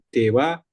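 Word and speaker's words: では: dewaeng juga bisa ya perhatian eh ha dari DH diucapkan wa ya jadi dewa dewa H untuk pengingat lagi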